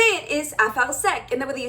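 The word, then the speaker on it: אפרסק: and the way that you say it is afar sek, and the way that you spell it is aleph pei resh samech kuf.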